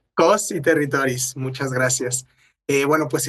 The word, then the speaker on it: Cos i Territòries: Costerritories se pronuncia en catalán, ¿verdad, Nuria? Cos y territories. Cos y territoris.